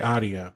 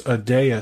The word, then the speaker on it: Adea: I always want to say Adia because that's how it's spelled, but it's Adea Security.